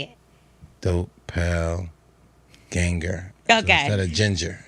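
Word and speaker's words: Doppelgänger: Dope pale ganger.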